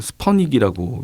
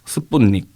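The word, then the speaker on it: Спутник: 그러니까 우주 로켓은 아니지만 그 스푸트닉 1호라고 스푸트닉 영어로는 스퍼닉이라고 미국에서는 아, 그래요? 발음을 많이 했거든요. 러시아에서는 뭐라 그러나요? 스푸트닉. 스푸트닉. 네. 비슷하네요. 우리나라는 스푸트니크. 네, 스푸트니크라고 하죠.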